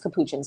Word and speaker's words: capuchins: said um on lady tis podcast it's it's pronounced capuchins but I just choose to say cappuccins um what else TT monkeys squirrel monkeys I